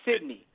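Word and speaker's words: Cydnee: that way oh i'm sorry no no sydney pronounced sydney it's still special either way you pronounce it c-y-d-n-e-e pronounced sydney god jimmy lee 12th man so actually one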